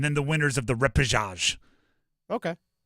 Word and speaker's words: repechage: The repechage. What? Repechage. I looked up how to pronounce it.